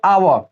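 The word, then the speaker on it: hour: अब देखो यहाँ भी एच साइलेंट होता है, लेकिन किसके पहले, तो ओ के पहले। अब देखो यहाँ पे आवा, इसको हावर वर मत पढ़ देना। आवा मतलब होता है घंटा, है ना, एन आवा मतलब 1 घंटा।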